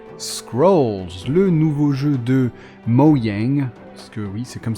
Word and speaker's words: Mojang: premières impressions sur Scrolls le nouveau jeu de moang parce que oui c'est comme ça que ça se prononce en vrai moang et pas mojeng et donc après Minecraft il s'attaque à un